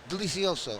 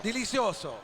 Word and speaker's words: DeLisioso: so where where quickly delicious how do you pronounce it exactly delicioso delicioso yeah you got it are you in so